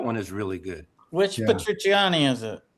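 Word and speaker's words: Petrucciani: Um Patr- How do you pronounce his last name? It's like Patrucciani? Patrucciani. Patrucciani.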